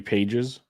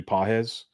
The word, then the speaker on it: Pages: the help I guess not Andy Pages it's Andy pz yeah the trick is